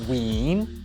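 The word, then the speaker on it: ウィーン: So the Japanese pronunciation is also ween.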